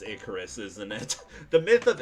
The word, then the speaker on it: Icarus: it's kept in the VOD, but I was pronouncing Iicaris. It's Icorus, chat. I freaking realized later that night after my best friend was making fun of me. I was like, it's pronounced Icorus, isn't it?